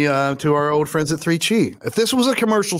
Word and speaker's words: 3Chi: I don't know if you've heard of 3Chi, listeners, but it's spelled 3CHI, the number 3CHI. Just think of it like a really good pizza, 3Chi's.